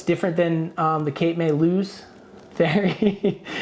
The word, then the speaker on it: Lewes: Oh, I say Cape May Lewis. Yeah, because Cape May's in New Jersey. Yeah. But it's Lewes.